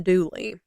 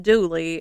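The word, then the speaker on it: Dula: in 1862 young Tom douly it's spelled D L A like his real name but it's pronounced like d o o l e y and that's how you'll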